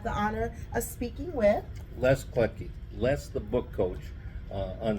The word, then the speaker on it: Kletke: but my name is Les Kletke. Oh gosh, what a great name! And um, we were so poor we couldn't have any silent letters. So you say them all. It's LESKLETKE.